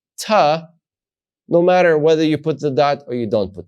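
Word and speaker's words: ת: dot a different way with the dot is going to be the harder sound without the dot it's going to be the softer sound historically right so you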